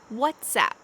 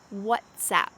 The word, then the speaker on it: WhatsApp: a tweet whatsapp whatsapp this is kind of a play on words because sometimes when we greet someone we say what's up what's up but here they've kind of changed this to be clever to say what zap because it's an application on your phone so that's where the uh expression originated from whatsapp next we have zoom